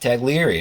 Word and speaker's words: Taglieri: top 10 on new visions radio she correctly pronounced tag leary i was like look at you and she's